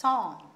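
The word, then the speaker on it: sans: shall we go ahead the next word is s-a-n-s song this is the seventh one s-a-n-s this is also a french word lot of words we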